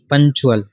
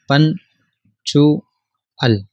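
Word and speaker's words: punctual: ये पंचुअल, TU का कानून ये है कि जब भी TU आए तो आवाज़ अच्छे की बनेगी, पंचुअल, ठीक है। ये C साइलेंट है, पन चू अल, पंचुअल।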